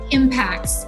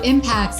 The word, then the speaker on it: Impax: I'm I am PX is that how you guys pronounce it impacts impact management which in the US you know it says Pax World funds and that's World funds correct a little bit confusing so impacts is the way that you say Asset